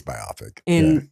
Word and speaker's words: biopic: I think it's biopic. But it's rhymes with myopic, which doesn't have a good connotation for me.